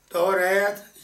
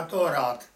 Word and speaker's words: تورات: توریت یا تورات یہ دونوں تلفظ صحیح ہیں.